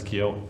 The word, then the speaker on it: Keohane: Well, in Ireland, it's Keohane.